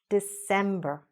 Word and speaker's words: December: December. December. Again, we had the stress there, okay?